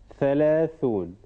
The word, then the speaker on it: ثلاثون: ثلاثون. So we start with ث. Is it ضمة? Yes. No. Can you decide? Yes, it is. No, it's not ضمة. It is ث. It is فتحة.